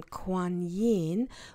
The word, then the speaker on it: Kuan Yin: Put his bodhisattva of infinite compassion, Kuan Yin, pronounced Kuan Yin, okay, is worshipped in East Asia Buddhism as she who hears the cries of the world.